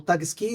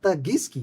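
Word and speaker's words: Tuskegee: É, quando o paciente ele perguntava sobre o seu diagnóstico, lembrando que o Alabama naquela época, o Tagski, é Tagiski, né, a pronúncia correta da da localidade.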